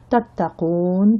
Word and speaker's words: تتقون: On a la shidda, tattaqoun, on arrive à la fin de la ayat, on ne prononce pas le dernier accent, tattaqoun, qui vient du verbe ittaqa, ittaqallah, c'est craindre Allah ou être pieux.